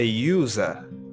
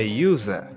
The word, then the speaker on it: user: for example we have this you here it's pronounced yeah a university a university another example a user a user another one a union a union we have